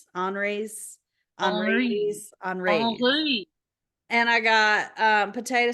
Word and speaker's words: Henri's: It's Henry's with an I, and I can't speak French, so it's Henri. Henri's.